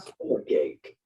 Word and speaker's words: stomachache: Now, you'll notice like number 3, the STOMACHACHE, both of those CHs sound like a K.